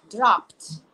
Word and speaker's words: dropped: Dropped. Dropped. Prestem atenção que a pronúncia aí vai virar como se fosse um T.